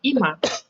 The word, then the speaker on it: 今: And for your information, this corn, the kanji of corn, actually in another way of reading it is ima, which means now.